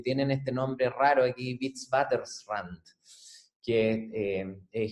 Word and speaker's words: Witwatersrand: en Sudáfrica, que tienen este nombre raro aquí, Witwatersrand, que es impronunciable, casi así que la gente le dice el WITS, nomás como W-I-T-S para contraerlo y poder pronunciarlo.